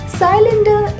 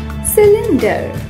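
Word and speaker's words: cylinder: साइलेंडर इसका गलत उच्चारण है। इसे सही से बोलने के लिए 3 भाग कीजिए। पहले बोलिए सी, फिर बोलें लिन, फिर बोलें डर। तीनों को जोड़ते हुए बोलिए सिलेंडर।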